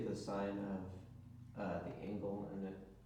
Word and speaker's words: sine: first ratio is called sign which is spelled SI n e we abbreviate it with